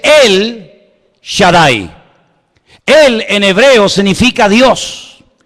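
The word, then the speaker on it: El Shaddai: Ja solamente hay uno así que en hebreo no dice ha Shadai el todopoderoso sino dice él Shadai él en hebreo significa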